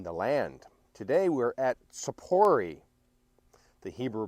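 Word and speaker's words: Tzippori: with God in the land today we're at Sapori the Hebrew pronunciation for safaris here in the lower Galilee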